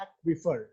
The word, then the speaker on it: aquifer: आपने देखा होगा स्पेलिंग है AQUIFER, तो इसको हम प्रोनाउंस करते हैं एक्विफर, ठीक है।